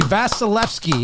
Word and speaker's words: Vasilevskiy: name last name is v-a-s-i-l-e-v-s-k-i-y andre vasilevskiy i'll accept it that is pretty darn good andre vasilevskiy andrei vasilevsky is how you would pronounce that name all right bro are